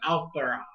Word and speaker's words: Alphard: I don't want to say Alfred because it's not Alfred. It's Alphara. There's like really weird pronunciation there. It's like Alphard or something like that.